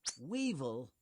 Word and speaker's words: weevil: ant fire ants are weevil Weevil rhymes with evil shrimp the shrimp is